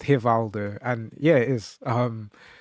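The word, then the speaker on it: Rivaldo: is it actually pronounced Haldo? And yeah, it is. Um, it's like here Valdo. It's is it's not re the R sounds like a H is what I'm trying to say.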